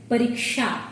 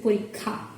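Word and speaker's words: পরীক্ষা: That's why they pronounce it as pariksha instead of saying parikha. But in Bangla, when we combine it, the pronunciation gets different. We say parikha.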